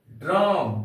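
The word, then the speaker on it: drachm: number five में है ड्रम डी आर ए सी एच एम इसका उच्चारण करेंगे हम लोग ड्रम इसमें सी एच साइलेंट है ड्रम का अर्थ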